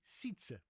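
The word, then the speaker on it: Sijtze: And we still have a remnant of that sound today in the Dutch boy's name Sietse, which is S-I-J thing, T-Z-E, Sietse.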